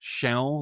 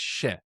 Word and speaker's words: się: Now, a quick note on the pronunciation. Again, the proper way is się, like with a nasalized L at the end. But very often when you hear it in speech, it's just she, as opposed to się.